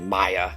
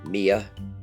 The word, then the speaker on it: Mia: I said Maya and one reminded me it's Mia.